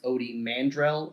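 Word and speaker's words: Ody Mandrell: going to be um odie mandrell i believe is how his name is pronounced he's the guy who's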